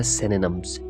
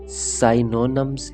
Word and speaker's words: synonym: एक पहला चीज़ आप लोगों को बताऊंगा, इसका एक मिस प्रोनाउंसिएशन किया जाता है, यानी साइनोनिम्स कहते हैं, सिनोनियम्स समथिंग इस तरह की मिस प्रोनाउंसिएशन करते हैं। तो इसका जो है करेक्ट प्रोनाउंसिएशन है सिनोनिम।